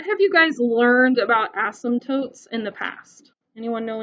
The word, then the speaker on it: asymptote: a weird word a-s-y-m-p that p is silent you don't pronounce it a-s-y-s-t-o-t-e asymptote asymptote notice i didn't pronounce